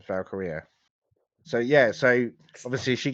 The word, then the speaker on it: Valkyria: Is it Valkyria. Valkyria? That's it. I I keep could calling her never pronounce Valkyrie. her first name. Valkyria.